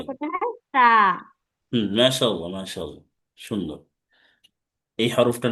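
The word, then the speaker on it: ث: হ্যাঁ, জিহ্বার আগার জিহ্বার সামনে। আগা হ্যাঁ, সামনের দুই দাঁতের আগার সাথে আগার লাগিয়ে সাথে উচ্চারণ লাগবে। করতে হয় সা।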